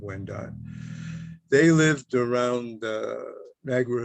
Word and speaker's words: Wendat: who became the wyandotte became called wyandotte which is a mispronunciation of when died they lived around the